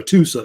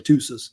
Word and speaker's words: Hattusa: Or either Hattusis or Hattusa, usually Hattusis. That's how they say it, really.